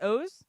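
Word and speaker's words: Oz: That's how you say it, O's? O's. Okay. O-Z.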